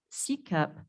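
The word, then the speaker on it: SCSEP: aarp foundation manages the s c s e p pronounced c-cup program in wyoming they place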